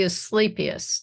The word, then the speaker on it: Asclepias: That's the Asclepias.